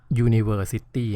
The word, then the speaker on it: university: อ อ่าง หรือ เป็น เสียง ย ยักษ์ อะ University นะ ไม่ ใช่ and University ดู ที่ เสียง